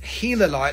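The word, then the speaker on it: gilalite: light g-i-l-a-l-i-t-e but it's pronounced helalite like the gila monster from gila arizona is the type locality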